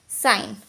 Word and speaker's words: sign: रिज़ाइन, साइन, क्योंकि जी साइलेंट है, SIGN। जी साइलेंट तो SI, साइन।